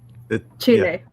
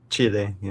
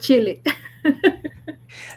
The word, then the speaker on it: Chile: Am I Am I I never pronounce it right. It's Chile. Chile, yeah. Yes. Not chili.